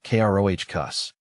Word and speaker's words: crocus: It's pronounced crocus, with a short O sound and emphasis on the first syllable.